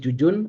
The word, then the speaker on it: Jujun: Kalau teman-teman kuliah Pak kuliah dulu kan pakai buku metodologi, maaf, filsafat ilmu Prof Yuyun, kan ada yang nulis Jujun, ada yang bacanya Yuyun.